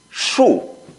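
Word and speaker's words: 恕: It's pronounced as shu.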